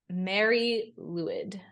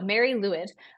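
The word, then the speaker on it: Mari Lwyd: ever heard of the Mary leid there okay so it is spelled m a r i mared lwyd because it's Welsh and there's consonants everywhere so Mary leid um and this translation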